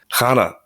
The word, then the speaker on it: Chana: Chana, first of all, pardon me if I'm doing my best with pronunciation.